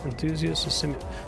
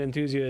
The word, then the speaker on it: Enthusia: You'd call enthusiasts a simulationist game. Forza is a gamified simulation. Okay, I put the emphasis on the wrong syllable or something. You're saying that Enthusia is at its core